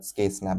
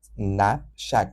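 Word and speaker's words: knapsack: मुझे लगा था ये उसको शायद स्केनप बोलते होंगे। बट इसको नैप शक बोलते हैं।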